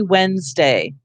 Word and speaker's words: Wednesday: do this and say it looks like Wednesday, and that's actually But I think every time I have to spell it, otherwise I will not spell it correctly, I will think Wednesday. We say Wednesday.